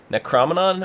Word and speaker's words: Necronomicon: John, where can the people find you in your Necronomicon or Necrocrominon? I don't know. How do you pronounce that thing?